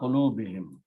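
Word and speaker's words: قُلُوبِهِمْ: And in the tajweed recitation, we pronounce whom as him. So Allah qulubihim, upon their hearts.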